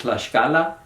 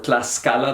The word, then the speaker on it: Tlaxcala: written in there, and that shows that way back in the time of the Spanish conquest, it was pronounced with an esh. Tlaxcala is a state? Tlaxcala, yeah, the state of Tlaxcala.